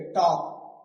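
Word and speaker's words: talk: देखो टी ए एल के लिखना यही है। एल लिखना है। लेकिन बोलना नहीं है। टी ए एल के टॉक।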